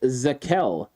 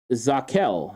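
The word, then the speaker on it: Zakelj: he's a lumberin um it's it's pronounced zakel uh zakhel yeah that's how it's pronounced the kill that that's what it says phonically um was an all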